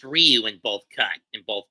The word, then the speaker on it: Ryu: It's pronounced Ryu. If you It's Rayu. No, it's actually pronounced Ryu in both cut in both ducks.